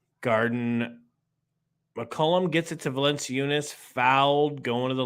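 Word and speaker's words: Valančiūnas: mccollum gets it to valencia eunice fouled going to the line dude it's a big white problem first free throw hits it it's pronounced valen chew nuts all right i'll keep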